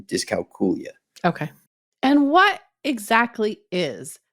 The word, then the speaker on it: dyscalculia: as I'm aware that the proper pronunciation has always been discula okay and what exactly